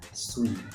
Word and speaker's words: suis: Ejaan macam Swiss, tapi sebenarnya bunyi dia adalah suis, S-U-I-S. Di mana S hujung pun silent.